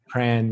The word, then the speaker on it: Prahran: Am I saying it right? Pran. Is it Pran? Pran, yeah. Pran? I can't even say it. I mean, I'm not a true Melbournean, but yeah, I think it's Pran.